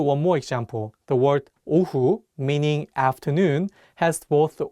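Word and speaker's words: ㅡ: The vowel uh has the same composition as the Korean vowel oo, but the shape of your mouth is wider.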